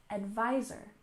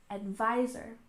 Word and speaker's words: advisor: biology and we have advisor with stress on the second syllable advisor advisor and this is a